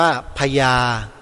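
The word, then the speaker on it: ภยา: คำ ว่า ยาคติ มั้ย พ สำเภา ยอ ยักษ์ สระ อา สระ อา พ สำเภา ย ยักษ สระ อา อ่าน ว่า พญา พญา ตัว นี้ ไม่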